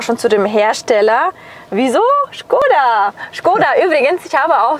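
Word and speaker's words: Škoda: Tatsächlich haben 80% abgestimmt, die immer Skoda sagen. Richtig aber ist es Skoda aus dem Tschechischen, also richtig Skoda ausgesprochen.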